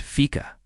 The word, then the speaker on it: Fika: A cherished and unique aspect of Swedish culture is the tradition of Fika, pronounced Fika.